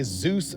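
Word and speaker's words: Dzus: okay this right here is a Zeus Fastener it is spelled DZ it is a quarter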